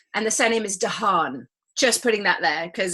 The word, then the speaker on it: Dahan: it, but the surname is Dahan.